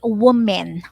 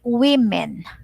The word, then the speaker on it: women: note of the pronunciation we don't say woman we say women right so man men